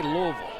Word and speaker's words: Louisville: I say Louisville.